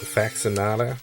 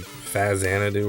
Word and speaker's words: Faxanadu: And I'm going to pronounce it the way I like to pronounce it, Faxinata. But it's actually Fazanadu or something goofy like that.